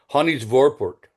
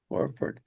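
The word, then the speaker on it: Hanny's Voorwerp: Yeah, I just looked up the pronunciation, and it sounds like H is pronounced like an H. Hanny's Vor, and then it is a V. Hanny's Vorport. Okay. Vorwerp.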